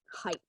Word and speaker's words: height: in this case yeah the ght so the gh T is pronounced as a simply as a as a T yeah height okay so ght always